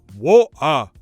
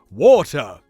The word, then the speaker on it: water: For example, Patrick Stewart would never say, water. He doesn't do that. Instead, he would pronounce the true T, water.